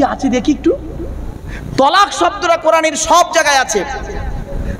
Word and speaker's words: তালাক: বা গালিগালাজ করতে গিয়ে তালাক দেয় তাই না শব্দটা তালাক নয় শুনে নিন শব্দটা কি শব্দটা তালাক নয় শব্দটা হলো তলাক কি বললাম তলাক তলাক